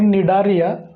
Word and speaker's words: Cnidaria: Number 2चा जो phylum आहे तो आहे निडारिया. स्पेलिंग सीनी लिहायचं आहे, उच्चार नी करायचं आहे.